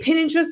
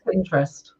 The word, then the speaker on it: Pinterest: Do you say pin interest or Pinterest? How do you say it? Yeah, it's lots of people add that extra kind of I, but it's actually just Pinterest.